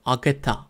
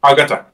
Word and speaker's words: Agatha: Agatha. Agata. Agatha ha? Ben de telaffuz harbiden kötüymüş.